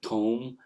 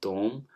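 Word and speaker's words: ثوم: Similarly, the word thom, the garlic, with the th sound. Now that's the Najdi pronunciation. Whereas in the Hijazi, some speakers will prefer it with tom, and some will give it a sound as som.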